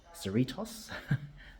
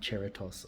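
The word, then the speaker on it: Cerritos: from San Bernardino to I know how to pronounce it now citos not cheros or Catos as I've been trying to say citos um according according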